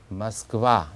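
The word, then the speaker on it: Москва: 그 다음에 러시아의 수도 우리는 보통 모스크바 그러는데 강세가 뒤에 있죠. 그래서 와는 맞는데 앞에 있는 오를 오라고 하지 않고 얼버무려서 모스크바 이렇게 합니다. 그래서 우리는 다 모스크바 하지만 러시아 사람들한테 자기들의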